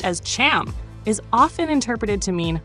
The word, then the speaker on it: Ham: skin color in Hebrew the name ham ham pronounced as Cham is often interpreted to mean hot or heat